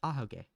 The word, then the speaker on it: ahoge: Yeah, that's how you pronounce it, ahoge.